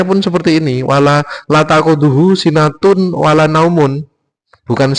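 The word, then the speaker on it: سِنَةٌ: Jadi membacanya la takudu sinatu wala naum bukan la takudu sinatau wala naum.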